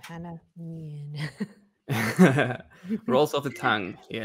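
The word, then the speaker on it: Hanne Mjøen: That's how you pronounce the name, Hanne Mjoen.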